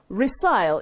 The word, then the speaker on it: resile: try the quiz we had at the beginning resile is spelled r-e-s-i-l-e and it means to go back